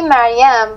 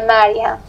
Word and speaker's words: Mariam: It's actually Mariam, but in different languages, maybe the pronunciation is a little bit different. But if you want the exact pronunciation in Persian, it is Mariam.